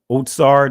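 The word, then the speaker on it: אוצר: just prom pointed out right otsar that's the israeli pronunciation but notice what it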